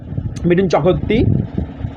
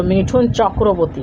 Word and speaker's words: মিঠুন চক্রবর্তী: হ্যাঁ, অমিতাভ বচ্চন, মিঠুন চক্রবর্তী। ভালো উচ্চারণ করো, মিঠুন চক্রবর্তী।